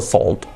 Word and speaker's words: salt: No sería, aunque se escribe salt, se escribe con no. Salt. All the words, when we have the combination O plus L, A plus L, A más L, the sound is like an O now. Like, for example, always is always. Todo, al, se escribe all. Sal, se dice salt, salt, con una O, ¿ok?